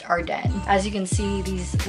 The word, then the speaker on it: Ardene: the longest time ever I've been calling it our Deen but I now know that since it's montreal-based it's pronounced hard day as you can see these like three few